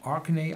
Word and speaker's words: Orkney: Then going much up to the north, the Orkney Islands. Also pronounced on the first syllable, Orkney.